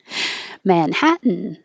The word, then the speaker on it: Manhattan: i forgot to watch my accent independent independence manhattan so this is a good example of a